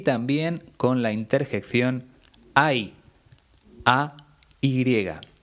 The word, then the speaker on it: ay: Son 3 formas muy parecidas a la hora de pronunciar. La única diferencia es que la primera lleva tilde en la I y se dice ahí. Las 2 siguientes se pronuncian ay, pero se escriben de forma totalmente distinta.